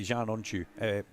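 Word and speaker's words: Can Öncü: I have always said, like you, Larry, I say Chanonchu, giving it the Turkish vocabulary, giving it how Alan Hyde's done his research on it for us.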